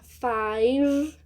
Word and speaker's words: five: U é mudo for cinco esse e do final também é mudo igual no one aqui fica five a gente termina com